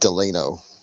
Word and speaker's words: Delano: It's pronounced Delano. Delano? I've Yep. never heard anyone say that. Really? I always heard it Delano, but okay.